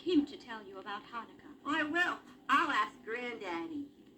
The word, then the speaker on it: Hanukkah: How do you pronounce that word? Hanukkah.